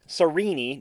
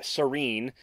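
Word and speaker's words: Sarene: vowel tones in pronunciation so it's rayodin not rauden sarini not Serene and I guess technically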